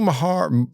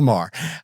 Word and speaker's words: Maher: Mahar Mah Bill Mah talk Mahar Mahar well I mean that's how it's spelled I don't know I'm Southern I don't I can't I can't pronounce things uh it's Bill Maher uh he's talking about